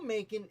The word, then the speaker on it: Macon: And I always want to pronounce it Bacon, but that's certainly not it. It starts with an M.